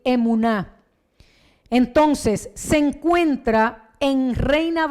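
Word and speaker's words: אמונה: halla redactada textualmente con una palabra hebrea que pronunciada en español pudiera decir emuná.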